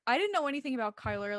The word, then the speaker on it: Chyler: But you saying you thought her name was Chyla? Yeah. Somebody literally said, me too. I thought it was Chyler. And I literally was sitting there for the entire season 1 going, wow, Chyler did really good. That is so embarrassing.